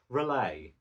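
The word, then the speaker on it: R'lyeh: I'm fairly sure it's pronounced Relay.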